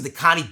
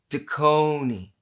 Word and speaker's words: Dekoni: ready ready grab some dakani bullets and never hear the nagging of your loved ones again no no no it's it's it's the kony daconi la it's a long o you got it duh